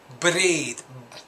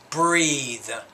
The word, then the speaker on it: breathe: mean using the breathe it's not breathe you're pronouncing the r a little bit too hard it's just breathe breathe through here we go